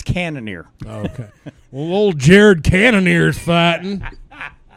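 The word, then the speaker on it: Cannonier: cannoneer a cannoneer axe I thought it was cannon a yeah because it's French right no no I was mispronouncing it's thinking I'm some kind of like a badass no no it's it's it's cannoneer okay hold Jared cannoneers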